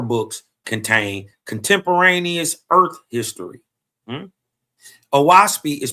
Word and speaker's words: Oahspe: Oaspi is pronounced O as in o'lock.